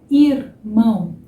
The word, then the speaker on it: irmão: Irmão. Irmão. Tô exagerando um pouquinho, tá? Irmão. Irmão. Tá vendo? Então, entre essa vogal e uma próxima consoante, a gente tem esse som também suave do irmão.